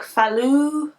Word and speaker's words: Falu: millimeter naturally soft sock in how do you pronounce it it's like falu f-a-l-u red sophalu red or something and so